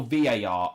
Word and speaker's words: VAR: barnes off topic but what is the correct pronunciation of var one syllable or for three letters so var or var i prefer var to be honest even